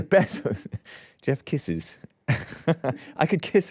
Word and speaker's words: Bezos: Jeff Bezos. Bezos. That's how you pronounce the Z, right? In Spanish, it's Bezos, but it's Bezos.